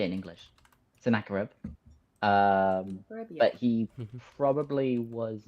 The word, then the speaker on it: Sennacherib: Sennacherib.